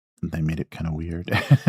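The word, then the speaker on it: Wyrd: Uh, weird, spelled with a Y, w Y R D.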